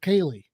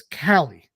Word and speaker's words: Callie: And he still pronounces a character whose name is spelled Calie. He pronounces it Kaylee when that name is Callie, right?